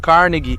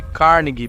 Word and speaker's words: Carnegie: André Carnegie nasceu na Escócia, por isso digo Carnegie em vez de Carnegie, pois é assim que os escoceses pronunciam.